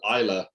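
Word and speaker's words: Islay: there and one particular island off the Southwest coast of Scotland called Isla Isla why is how it's spelled and if you're ever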